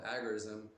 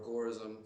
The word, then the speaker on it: agorism: or what he called agorism or agorism, some people pronounce it, because it's based on the Greek word, the agora, which was literally a marketplace